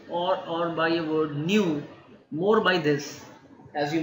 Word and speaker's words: nu: Okay, and this is nothing but nu. Okay, not mu.